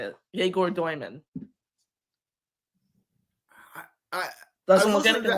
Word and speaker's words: Egor: Igor Demon. It looks like a pretty straightforward name. I was saying Igor Demon for a long time, and then I found out Yegor, and then all these different last names.